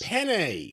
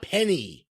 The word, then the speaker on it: penne: Penne, not penny. Well, you say penne and I say penny, and we ate it just the same. It's penne.